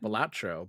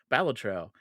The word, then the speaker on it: Balatro: Yeah, that's how the developer pronounced it. I always pronounced it Balatro, but it was during the Game Awards that he pronounced it Balatro.